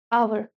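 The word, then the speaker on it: hour: अब जो आवर word है आपका इसमें एच साइलेंट होता है। एच को आप प्रोनाउंस ही नहीं करते हैं। साउंड किसका आता है? ओ यू आर का। आवर।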